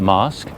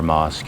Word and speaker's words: mosque: Yes, it is a mosque. A more modern example of a mosque built in 2020, he said. I wonder if it's a companion to this more traditional, smaller mosque here.